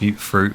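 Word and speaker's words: Mutfruit: And as we make our way to this corner, I've put loads of mut and some water generators. And yes, I know it's pronounced mute fruit, but I say mut because I like to annoy certain individuals with it.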